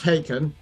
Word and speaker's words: Haken: heard of this band yeah um so it's pronounced haken these along with tesserites are the Giants of